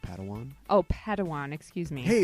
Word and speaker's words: Padawan: I believe it's pronounced Padawan.